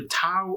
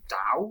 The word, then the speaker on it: Tao: and get through it the TOA of Pooh and the tea of piglet or I think it's more da is the actual pronunciation of it but it's